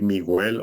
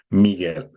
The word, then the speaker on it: Miguel: par exemple on va au lieu de dire migel on va dire Miguel donc c'est comme si la ha n'existait pas donc il y a